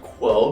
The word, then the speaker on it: Qwo: The product is named Quo because it will change the status quo of your cellulite. It's spelled QWO because the WO stands for women.